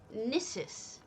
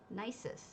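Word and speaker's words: Gnisis: new nicest quarter club the guard said it nisis does anyone know how nisis or nicest is pronounced oh look they put the snowball in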